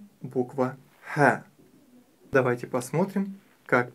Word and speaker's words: ح: Буква «Ха» произносится мягко. «Ха».